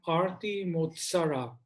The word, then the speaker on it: Arti Motsara: For the position of secretary, we have Arti Motsara. Arti, I hope I'm pronouncing your name correctly. Yes, that's the correct pronunciation.